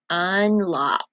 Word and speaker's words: unlocked: Unlocked. That's a long one. What sound do you hear at the end of unlocked? You say T? T, t, t. That's the sound we hear.